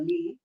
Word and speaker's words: Le: pronounced as Le or Lee yeah good question it's Le l e so it's a Vietnamese last name yeah I remember when